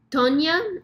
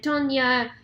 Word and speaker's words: Toña: excited about um this Nicaraguan beer called Tonya I'm assuming um but uh when my sweetheart was down in Nicaragua they picked up this beer cuz we joked that it's actually pronounced Tonya so um we're going